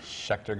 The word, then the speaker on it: Schecter: How do you pronounce the name of the guitars? Schecter Guitars.